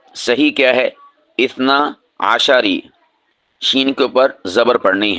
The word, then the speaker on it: اثنا عشری: ہیں وہ ہوتی ہے اثنا عشری، اثنا عشری، یعنی ہم شین کو جو ہے ساکن پڑھتے ہیں، یہ غلط ہے۔ صحیح کیا ہے؟ اثنا عشری، شین کے اوپر زبر